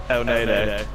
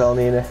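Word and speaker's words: Elneny: El Nene. Or El Nini. Depends on where you come from in the country. Yeah, well, I'm coming as shit, so it's El Nini.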